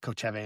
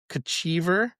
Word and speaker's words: Kochevar: But it's I believe it's called, it's the at least the way I have been saying is like Kochevar, and so the south of Slovenia, that region.